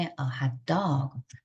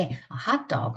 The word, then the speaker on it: hot dog: 이럴 때는 명사가 더 중요하기 때문에 a hot dog, 더운 게, a hot dog, 더운 게 이렇게 달라집니다. 그래서 발음을 하실 때 a hot dog 하면 우리 먹는 핫도그인 거고 there was a hot dog 그러면 더운 개가 있었다?